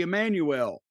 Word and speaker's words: Emanuel: Well, that's cuz I'm I'm cousins with Ari Emanuel. You're the only person I've ever heard pronounce it that way.